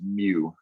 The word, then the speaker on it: mu: know about pokemon so this pokemon called mu that's how you say it so it's kind of a funky letter but you pronounce it mu okay and then this